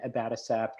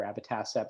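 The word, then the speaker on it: abatacept: of riveragen um presented on that and then abattocept or abbatassepp depending on how you like to pronounce it uh presented by dr rodolfo curiel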